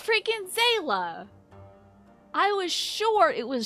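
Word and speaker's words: Xaela: this because I think I learned how to pronounce it wrong for the whole time I was saying like Shola and it's not that so how do you say is it zayla it's freaking zela I was sure it was Shula and I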